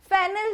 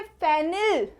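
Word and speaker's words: fennel: English में कहते हैं फेनिल सीड्स अब यहां पे फेनिल फेनिल सीड्स नहीं है इट्स फैनल seeds फैनल seeds next one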